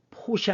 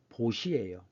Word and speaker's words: 보시: 보시하다. 이거 포시 아닙니다. 베풀 포자이지만 산스크리트어는 중국음이 기준이기 때문에 우리 음은 포이지만 중국음으로는 보라고 읽어야 됩니다. 그래서 이건 보시예요.